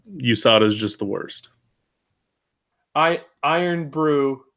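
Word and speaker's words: Irn-Bru: Iron Brew is how it's pronounced.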